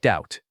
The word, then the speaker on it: doubt: Same silent B pattern. It sounds like doubt.